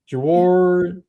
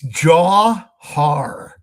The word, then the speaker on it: Jawhar: And if we could look a little bit deeper, if Woody Marks is out again, Jawar, I don't know how to say his name. Jawar. It's Jawhar. Jordan.